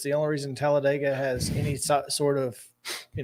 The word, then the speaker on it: Talladega: to but no if if you're talking about the town it's it's Talladega like dig a hole okay I dated a